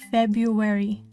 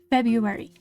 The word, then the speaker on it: February: Feb Febru February Feb February. Just don't pronounce the R.